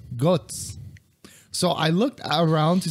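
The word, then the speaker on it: Götz: What was this dude's name? Gutz, pronounced Gutz.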